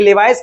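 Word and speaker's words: Levi's: किस अभिनेत्री को लेविस इसका इंग्लिश में इसको लेवाइस पढ़ते हैं। कहीं कोई इसका प्रोनाउंसिएशन लेवाइस करता है। कोई इसको लेविस करता है।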